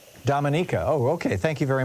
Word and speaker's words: Dominica: right but it's no no the natives they pronounce it Dominica Dominica oh okay thank you very much I didn't